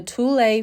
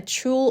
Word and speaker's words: Thule: In this video, I will be installing the Tulle 5200 awning from Caravan RV Camping. Throughout the video, I do call it a Chul awning. I did mispronounce, so sorry about that.